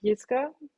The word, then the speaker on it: Jiska: So in Germany, if something starts with a J, we pronounce it Jiska.